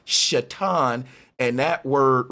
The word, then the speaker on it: Satan: And the word Satan is supposed to be pronounced Shatan.